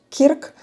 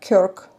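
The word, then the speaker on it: Kirk: В Україні кажуть Кірк. На англійській це читається Крк.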